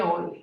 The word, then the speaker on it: Euler: Ou a pronúncia aí seria Euler.